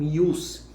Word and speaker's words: jus: Outro sentido é o prefixo latino jus, ou pode também ser pronunciado como ius.